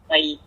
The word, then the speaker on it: carats: the outside is 0.62 carats, I think. Carats, yeah, wow. C-A-R-A-T-S, I can't pronounce the word. It's like a measurement of it's carats. Scale of a diamond. It's carats. Carats, that's how it's pronounced.